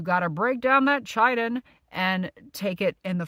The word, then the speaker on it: chitin: Again, chitin, spelled CHITIN, which you have to break down off that mushroom to get the health benefits, is pronounced chitin.